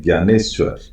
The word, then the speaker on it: ज्ञानेश्वर: अब ये ज्ञानेश्वर, इनकी स्पेलिंग DNY होती है, लेकिन बोला जाता है ज्ञानेश्वर।